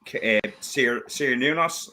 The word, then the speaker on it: Cernunnos: And they say this is a Cernunnos.